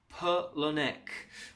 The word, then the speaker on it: Palahniuk: you out here T it is pronounced Chuck Palahniuk Pirlo Nick and I'm sorry but